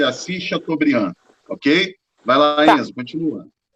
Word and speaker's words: Assis Chateaubriand: todos o nome desse empresário é assis chateaubriand pronuncia-se assis chateaubriand ok vai lavar isso continua dando nos diários